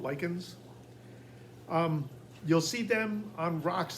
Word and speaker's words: lichen: Now the lichens, I have heard people pronounce it lichens, but typically it's called lichens.